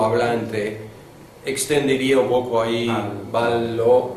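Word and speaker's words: βάλλω: Ballo lo pronuncia con ballo. Doble El primero le o el. Sí, pero no es como en español, no es vallo, o sea, doble L es L, ballo.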